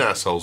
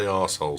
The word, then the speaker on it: arseholes: Stop saying assholes and say arseholes. Say it properly. It's your arse, not your ass.